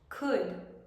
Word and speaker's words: could: se pronuncian casi igual no vamos a pronunciar ar la l would could should y el último verbo